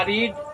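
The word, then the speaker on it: read: इसका होगा हम लोग के इंग्लिश वी, और पढ़ना के होगा रीड, और वर्ब टू रेड उसको बोलेंगे, स्पेलिंग वही, रेड a book, we रेड a book, हम लोगों ने एक किताब पढ़ी।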